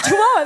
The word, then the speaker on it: Chihuahua: there I is it called how do you pronounce the town chahua it's Chihuahua there's no questions about the pronunciation of Chihuahua